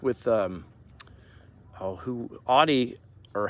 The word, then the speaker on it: Audi: trends you know like with um oh who audi or how do you say it kelly audi audi uh sorry we watched a video on